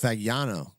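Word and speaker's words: Fagnano: How do you pronounce the quarterback's name, Jeff? Fagano.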